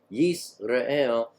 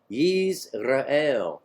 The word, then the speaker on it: Yisrael: That's not to be confused with Israel, which is pronounced Yisrael. This one is Yiz with a Z. Yisrael.